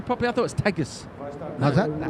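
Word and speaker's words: Tejo: Riotej.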